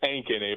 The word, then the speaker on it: Ankeny: Did I pronounce that correct? Is it Ankeny? It's Ankeny, but yeah.